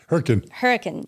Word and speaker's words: Hurricane: for people not familiar it's spelled like hurricane but that's not how it's pronounced um hurricane yeah it's southern utah